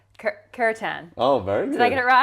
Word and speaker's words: kirtan: And it's called, what you practice is, I'm going to get the pronunciation right, kirtan.